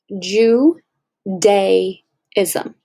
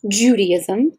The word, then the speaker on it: Judaism: i can accomplish this you heard it right jew de ism that's how it's pronounced okay it's named after the roman province